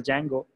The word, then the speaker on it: Django: are the two libraries D is silent here so we call it as a Django flask and Django right